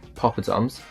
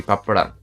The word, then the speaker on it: poppadom: In the British pronunciation, I've heard it being pronounced in a variety of ways, but the most common one I've heard is poppadoms, poppadom, but then in the Indian accent it would be papadam, papadam, papadam, papadam.